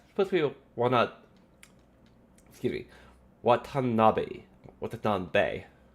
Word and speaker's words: Watanabe: That's supposed to be excuse me, Watanabe. Watanabe. Because the E at the end of Bay, it needs to always be pronounced as like men, ne, this is how Japanese works.